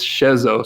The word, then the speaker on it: Schezo: to say his first name, and it is Schezo, so I'm not Schezo posting during this podcast.